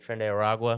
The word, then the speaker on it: Tren de Aragua: Tren de Aragua.